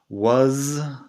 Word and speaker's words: was: Una cosa antes de seguir, was, la pronunciación was, se hace con la z que vibra al final.